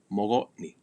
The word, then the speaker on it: mogotni: That letter G is the same thing like in the word haga. You let it flow, mogotni, mogotni. It is okay to pronounce it hard, mogotni, mogotni. That's fine. But in normal speech, kind of just everyday natural talking, it'll be more of that what's called a fricative, mogotni, mogotni.